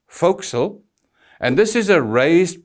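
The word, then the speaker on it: forecastle: and please note it's spelled for Castle but pronounced fil and this is a raised part on the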